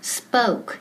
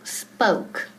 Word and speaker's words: spoke: Y ojo con la pronunciación, spoke. Esa O suena como O-U, spoke.